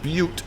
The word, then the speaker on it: Butte: By the way, that's pronounced Butte, Montana. I know what you want to say, and we've all said it.